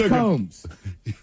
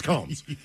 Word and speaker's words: Combs: how they That's how the name is M. It's Combmes. It's Combs.